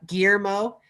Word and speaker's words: Guillermo: Oh man, it's so like I cringe down my spine whenever I hear someone pronounce the L's as L.